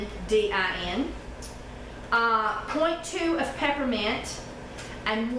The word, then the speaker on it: lavandin: 0.3 ounce of camphor, 0.5 of Lavandin, and that's L-A-V-I-D-I-N. Or at least that's the way it's spelled there, but no, it's Lavendin.